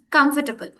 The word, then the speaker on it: comfortable: For example the next word we have is com comfortable but people pronounce it in the whole way comfortable. But no, we are again rushing. Comfortable. Yes, comfortable. Yeah, they have three syllables, but I used to make it four always.